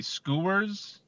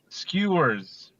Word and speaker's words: skewers: awesome I don't know if I'm pronouncing this correctly skers how's it spelled s k e w RS basically skewers Jesus there you go how